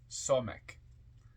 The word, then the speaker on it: Samekh: crown comment on Sonic s m e k h pronounced somic transcribed as s the